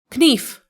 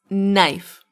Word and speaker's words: knife: Is it knife? Knief. No, it's knife. Knife.